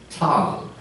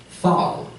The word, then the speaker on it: Tal: And the Neander Valley, the word for valley in German is Tal. Originally in Germanic and Old High German pronounced Thal.